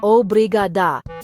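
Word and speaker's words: obrigada: They sound like obriadu and obriada.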